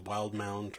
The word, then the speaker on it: Wildemount: how to pronounce that if it was wild mount or world amount somebody on Twitter told me that it's a wild mount so that's what I'm